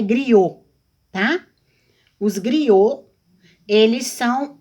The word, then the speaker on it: griot: Um griote. Considerados muito sábios na África, os griotes, pronunciam-se griot, são chamados de contadores de história.